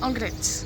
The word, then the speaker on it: Anglet: Ouais, Anglette. Anglette, comme ça se prononce.